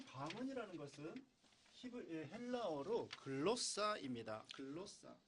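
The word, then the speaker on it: γλῶσσα: 글로사. 其希伯来文的发音呢叫 glossa， 이것은 혀, 우리 말의 혀, 舌头、 언어, 语言， 방언, 还有方言、 외국어 外语， 이런 뜻이 있어요.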